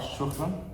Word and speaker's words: Shukran: Do I have to roll the R? Shukran? Shukran, it is better to. Okay. Because our R's are very heavy.